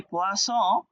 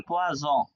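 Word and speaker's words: poisson: ফিশের বানান করতে গিয়ে, এটা ছিল ফিশের বানান, উচ্চারণ পোয়াস, হ্যাঁ, তো আপনি পোয়াস বলতে গিয়ে ভুলে বলে ফেলছেন পোয়াজ, হ্যাঁ, তাহলে কি হবে?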